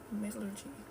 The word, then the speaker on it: metallurgy: I look, you said it right the first time, but I thought it sounded too choppy.